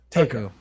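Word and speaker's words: Taeko: How do we pronounce her name? Takao? Takeo? Takao? Yeah. It is Takeo.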